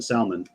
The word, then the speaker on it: Salman: So anyways, Prince bin Talal and Mohammed bin Salman, which I also got to say, that's the only time it's okay to pronounce the L in Salman.